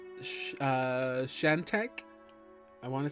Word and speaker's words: Shantak: David was pretty much on the money. It's a Shantak.